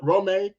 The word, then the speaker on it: Rome: So, it's Rome. Rome. Okay. Did I pronounce it? Rome. Rome. As in Rome. The great empire of Rome.